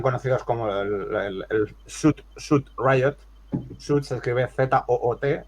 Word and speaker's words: Zoot: Shoot se escribe Z-O-O-T y Shoot de Suit, o sea, los disturbios de los trajes Zoot.